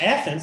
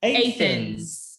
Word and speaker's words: Athens: may be using and instead of athens which we said earlier we actually say athens uh you may end